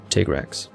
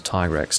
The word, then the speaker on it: Tigrex: trying to say phonetically tigrex that's what it's supposed to be here so tigrex versus tiger x tiger x is a very american way of pronouncing it that i've also picked